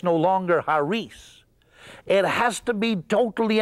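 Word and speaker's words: χάρις: a r i s now the Greeks don't say it like that they drop the sea and they say hares and hares or we English speakers we would say kares that's where we get our word Charisma from or even the word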